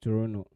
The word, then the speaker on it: Toronto: my grandmother that's yeah I've seen a t but it's pronounced Toronto anyway yeah so Friday